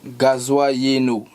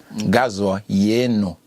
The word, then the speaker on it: Gazoa Yeno: Alors, le 6e morceau s'intitule Gazoa Yeno. Je le prononce peut-être mal. Oh non, disons que tu l'as prononcé à la française.